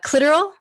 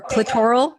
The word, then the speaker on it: clitoral: I have clitoral or clitoral, depending on how you say it.